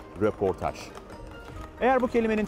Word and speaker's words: röportaj: Dikkat edin, Fransızcadan dilimize giren bu kelimenin hem yazılışı hem okunuşu röportaj.